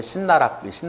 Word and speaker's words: 씨나락: 그러니까 그 나락, 씨나락인데 그걸 발음할 때 이제 신나락 그러는데, 그래서 귀신 씨나락 까먹는 소리 한다 그렇죠.